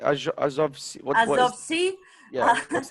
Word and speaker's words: Azov: Lori, by the way, we have summer camp now, and Max tell us many things and many stories from Azov Sea, by the way, from place which is Azov Sea, near Azov Sea.